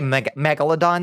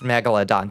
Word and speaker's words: Megalodon: Hey, Megalodon, that's pretty good.